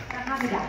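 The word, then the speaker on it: 사랑합니다: Saranghamnida.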